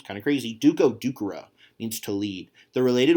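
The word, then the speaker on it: ducere: So dokeri versus ducera, not a long E.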